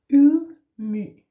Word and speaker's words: ydmyghed: Ydmyghed. Yeah, ydmyghed. So the Y in Danish is a sound that a lot of people struggle with because they go either